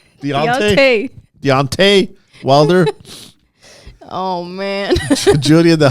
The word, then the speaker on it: Deontay: a y what is that spelled t deont Deontay Wilder oh man juliia the hawk Jackson and